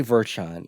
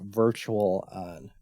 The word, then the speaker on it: Virtual On: Oh wait, I always say Virtuon, even though it's a virtual on.